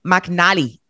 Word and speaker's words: McNally: How do you say it? I say McNally. Joanne McNally. That's it.